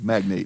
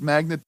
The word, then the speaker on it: magnate: dad's an oil magnet I think he means magnate magnate yeah magnate magnate magnate magnate and I think you could pronounce it magnet magnet but I I choose to go another way well I assume that